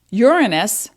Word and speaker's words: Uranus: momentum your action in the sign of taurus uranus and that is the correct pronunciation uranus urano is a greek word means